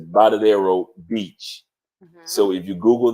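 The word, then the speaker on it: Varadero: sound makes a b sound so it's it's bottadero Beach so if you Google that in Cuba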